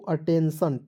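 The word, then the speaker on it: attention: क्या कहता है दोस्तों जब किसी वर्ड के लास्ट में टी या और एस के बाद आई ओ एन आए तो आई को क्या पढ़ते दोस्तों अ के रूप में करते हैं या इसका उच्चारण ही नहीं कीजिएगा ठीक है देखिए आप A double T ई एन टी आईओ एन को क्या पढ़ेंगे दोस्तों अटेंशन टी आई ओ एन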